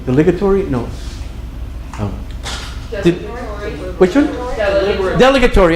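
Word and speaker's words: dilatory: Delegatory. I had the accent on the wrong syllable. Delegatory.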